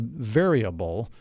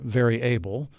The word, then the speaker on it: Veryable: founder and CEO of a company called variable or very able person first one variable